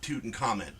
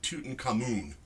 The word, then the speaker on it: Tutankhamun: pronounce his name now it's not tootin comment it's too uncommon no they now say Tutankhamun ah I'm like who